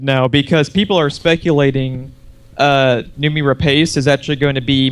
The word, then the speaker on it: Noomi Rapace: Not sure exactly how to pronounce it. Jeff, help me out. Noomi Rapace? Noomi Rapace.